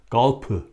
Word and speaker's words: golf: And they don't pronounce the F sound in Korea. In the Hangul, instead they use a P sound. So golf sounds like golf, Galpu, and many other words like that.